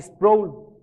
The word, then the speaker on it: Sproul: un hermano que hace poco falleció llamado archie sproul él decía que así se pronuncia a ver si es problema y tiene